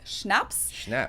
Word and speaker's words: schnapps: my video on alcohol culture in German we spell it like this and say schnapps and hard liquor hardening okay mostly used as